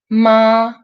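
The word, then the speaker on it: 妈: When it's first tone, it's mother, ma. When it's third tone, it's horse, ma.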